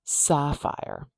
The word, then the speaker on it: sapphire: Okay, let's look at how to pronounce the word sapphire. We'll open our brackets to show we're writing an IPA now. That first sound. Same symbol as English spelling as you'd expect. We've got sapphire, ah.